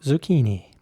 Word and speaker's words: zucchini: Zucchini is spelled Z-U-C, another C-H-I-N-I, and it's pronounced zucchini.